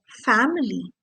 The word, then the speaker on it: family: Similarly, in the word family, very close to our hearts, family, the letter A is pronounced as A. But in the word familiar, the A gets pronounced as A.